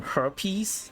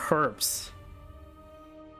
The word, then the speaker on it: herbs: Some herpes. No, some herbs. Just throw in some reptiles. Nah, just the H is silent. Herbs. I'm British.